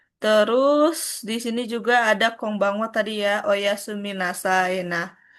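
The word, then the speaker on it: こんばんは: Terus di sini juga ada konbanwa tadi ya, oyasumi nasai.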